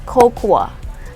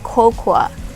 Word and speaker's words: cocoa: is not pronounced as kokua no we don't say cocoa it is actually pronounced as coco coco so you don't say the a at the end we just say coco say it okay so